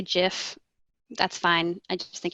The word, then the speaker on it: GIF: alright the phrase is I know it's pronounced jiff I know Alexis Ohanian made it and he pronounces it jiff but I say guess